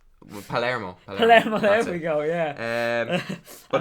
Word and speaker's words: Palermo: The Palmero. Yeah, 2-0. Pretty sure pronouncing that wrong. Palermo.